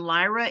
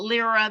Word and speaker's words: Lyra: of Lyra okay and Lyra is the leader they call it Lira they call it Lyra I'm I've heard it pronounced both ways and it's um and